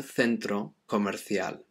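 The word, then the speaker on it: centro comercial: to speak in spain most people in spain they pronounce c's like the c e and c i like a th so it would be un centro commercial so either either way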